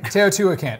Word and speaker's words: Teotihuacan: Teotihuacan. Yeah, that's how you pronounce it. Teotihuacan, age, size, and complexity can make it seem otherworldly, but it's very much the work of humans.